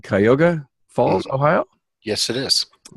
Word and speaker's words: Cuyahoga: John Cooper, partner at ECP Auto Repair and Service in, let me say this right, Cuyahoga Falls, Ohio?